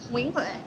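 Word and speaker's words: Nguyễn Huệ: How do you say it? Nguyen Huệ. That's it.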